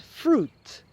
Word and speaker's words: fruit: So words that have an oo pronunciation, so you don't pronounce the I, are juice and fruit. So you should order a fruit juice or a fruit salad.